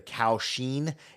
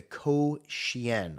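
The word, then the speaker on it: kouxian: I was pronouncing it as the Kaoshien. No, it's the Koshien, I think is how it's pronounced.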